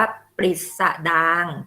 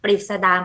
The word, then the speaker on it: ปฤษฎางค์: ทำ นี้ Pop R นะ คะ อ่าน ว่า ปฤษฎางค์ ปฤษฎางค์ เป็น คำ ราชาศัพท์ แต่ ว่า หลัง นะ คะ